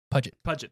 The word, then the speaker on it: Puget: So next up is what does Jade Puget, is that how you pronounce it, Jade Puget, or is it Puget? Puget, thank you.